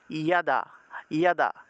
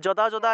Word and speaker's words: যদা: তাহলে যদা থাকলে উচ্চারণ হবে ইয়াদা ইয়াদা। তাহলে যদা যদা হি ধর্মস্য না বলে আমরা উচ্চারণ করব ইয়াদা ইয়াদা হি ধর্মস্য, ইয়াদা ইয়াদা হি ধর্মস্য, ইয়াদা ইয়াদা ইয়াদা ইয়াদা।